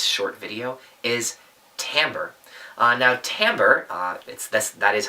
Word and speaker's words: timbre: Now, timbre, that is how you pronounce it, timbre, is a little bit more abstract.